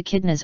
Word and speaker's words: echidna: The echidna, pronounced echidna, is sometimes called a spiny anteater, but that's because it has sharp spines and likes to eat ants.